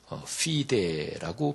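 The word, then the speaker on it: fide: 그래서 믿음은 피데라고 발음하는데 솔라 피데.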